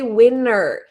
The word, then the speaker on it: winter: that the pronunciation here, we can say winner, no T, or we could add the T, both are fine.